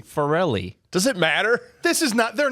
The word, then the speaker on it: Farrelly: Is it Peter Farrelly or is it Farley? Farrelly.